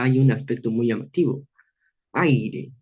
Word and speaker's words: aire: Aire. Esta primera sílaba, el ay, definitivamente es tónica. Entonces, esto definitivamente aquí recae un tiempo marcado. Ay, y la palabra, y la sílaba are es también, por supuesto, átona.